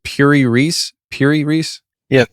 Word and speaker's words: Piri Reis: never heard of the is is is it pronounced Pur Reese Pur Reese yeah Pur Reese it's pi r i r i r e